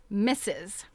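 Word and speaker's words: missus: married woman to me misses the emphasis on the second syllable was much too strongly marked for it to be pleasant to my ears I was terribly afraid he would say mistress thus going off into the opposite extreme of vulgarity I mean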